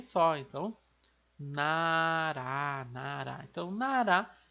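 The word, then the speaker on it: 나라: Como ele está na segunda sílaba, ele tem aquele som de R lá de arara. Então fica nará, nará. Vejam que não é narra, narra, não.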